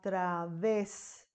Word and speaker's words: través: es a través a través te das cuenta a través la última ponemos acento en la e porque la última sílaba es la que ves es donde suena fuerte la sílaba a ser